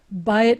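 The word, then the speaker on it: בית: kind of patterns so with the errors it was two segals ah but the byte is an ah whatever the consonant is here it's an i ye pattern so by it means house but if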